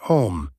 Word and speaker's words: homme: bark, he learned from D'Arnaud that it was pronounced homme, and in the same way he was taught to pronounce ape, singe, and tree.